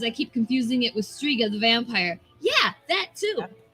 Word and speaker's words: Striga: confusing but i guess at least striga has that hard g sound there but anyway uh